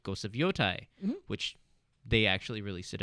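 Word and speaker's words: Yōtei: great it looks great U how do you pronounce that ghost you would yoai yoai because it's a it's a mountain so I was talking imitation of Mount Fuji I think is a rough translation it's yoai mountain and that's it's and it's supposed to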